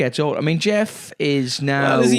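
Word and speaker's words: Gef: It is pronounced Jeff, not G.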